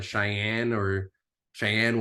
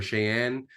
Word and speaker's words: Cheyenne: And she looks at it on the map, and I guess the closest big city is Cheyenne, Wyoming, or Cheyenne.